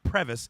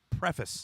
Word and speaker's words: preface: myself there's still mispronunciation it is not previous it's preface tiffany youtube crevice and